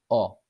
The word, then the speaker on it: ho: the pronunciation part, because the H consonant is a mute consonant in the verb to have, so nel verbo avere.